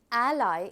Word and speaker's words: ally: This is a little significant here because ally is the right pronunciation. I hope all of you are able to pronounce it correctly. We call it ally.